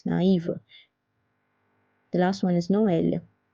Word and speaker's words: Noël: That's the wrong pronunciation, so it's naïve. The last one is Noël, Noël, which means Christmas in French.